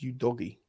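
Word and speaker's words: Udogie: that stream you doggy it's pronounced you doggy is it that posed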